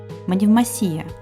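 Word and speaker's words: Μονεμβασιά: без боя и кстати ударение в названии ставится на последний слог манев масия но Давайте закроем глаза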